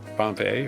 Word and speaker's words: Pompeii: Rhymes with lay, Pompeii, right?